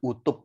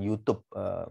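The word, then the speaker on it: U-tube: tekanan itu ada YouTube ah bacanya utuh ya akan bukan YouTube kalau youtube-an video ini aku utup manometer Kenapa dinamakan uk6n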